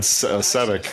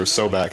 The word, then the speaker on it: Sobek: Yeah, Egyptian crocodile god, Sebek, or Sobek, I guess is how you pronounce it.